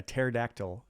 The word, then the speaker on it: pterodactyl: can't you hear a pterodactyl go to the bathroom why can't you hear a pterodactyl go to the bathroom because the p is silent see I didn't I